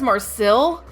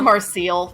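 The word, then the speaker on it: Marcille: up and the one I probably will never pronounce correctly the dub says Marcel that's Marcil that's not how you that Mar is it's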